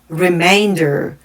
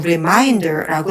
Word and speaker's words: remainder: 그래서 주의해야 될 단어로는 although, currently, region, improve, pleasant, remainder 이런 단어 있었는데 시험장에서 remainder라는 단어는 학생분들이 보통 reminder라고 읽는 경우 상당히 많은데 reminder는 완전히 다른 단어이기 때문에 이렇게 읽으면 안 됩니다.